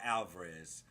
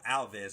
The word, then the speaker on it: Alves: Bro, BKFC, Mike Perry goes out there and makes short work of Thiago Alvarez. You know, Alves, I should say. I believe I was mispronouncing that in my build-up video to this.